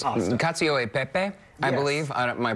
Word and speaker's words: cacio e pepe: Cacio e pepe. Yes. I believe my pronunciation is not great, but this sort of tastes like mascarpone cheese.